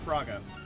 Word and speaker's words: Firaga: I call it Firaga. But I know there's like Firaga or Firega. But I call it Firaga. Or if you say it really quickly, Fraga. I like calling it Firaga.